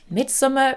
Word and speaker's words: Midsommar: But based off of his previous movies, Hereditary and Midsommar, or Midsummer for those of you who are irritated by me pronouncing it Midsommar.